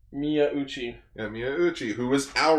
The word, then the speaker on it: Miyauchi: It was Hiroshi Miyauchi. Yeah, I can never pronounce his last name. Miyauchi.